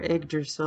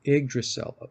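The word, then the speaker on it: Yggdrasil: it's either that or igdrasil I I believe it's the Y is pronounced like an i oh igdrasil igdrasil okay and I just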